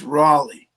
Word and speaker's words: Raleigh: You got to pronounce that right. It's Raleigh. Raleigh coin. It's like Raleigh, Raleigh.